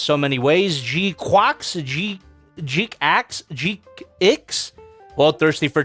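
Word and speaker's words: GQuuuuuuX: So it's Jquax. Jquax is the proper pronunciation, according to the katakana.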